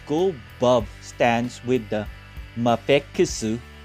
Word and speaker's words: Mafex: Trying out the Let's Go Bub stands with the Mafusu. That's Mafex pronounced in Japanese.